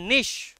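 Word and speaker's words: niche: অ্যান্ড ইন the cave itself, in আ নিশ, উচ্চারণটা নিচে নয়, উচ্চারণটা নিশ।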